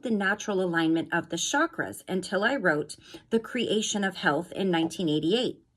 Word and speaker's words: chakra: In Sanskrit, the language of the ancient Indian seers who first identified these energy centers, the word chakra, pronounced chakra, means wheel or circle.